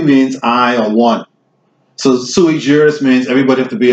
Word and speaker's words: sui juris: Pronounce this again. What is it? Sui Or sui juris.